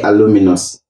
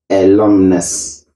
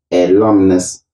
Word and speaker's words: alumnus: of the wrong pronunciation you don't say aluminum you do not say alumini you say alumni and you say alumnus alumnus so it is right to